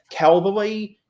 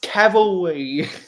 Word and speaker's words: cavalry: Cavalry on their horses I hear so many Americans call them Calvary it's Cavalry yeah yeah that I I